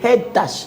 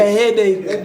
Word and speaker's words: headache: Vous n'avez pas bien prononcé. C'est le même prononcé. I have a headache.